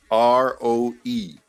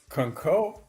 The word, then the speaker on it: Conroe: Conco? What the concow? What the? CONROE. Oh, CONROE. Conroe. Okay, so that's how you say it. Right. Simple. It's 2 syllables, but when I say it, I say Conroe.